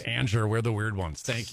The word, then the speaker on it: Anger: last name looks like last name looks like anger we pronounced it Ander we're the weird ones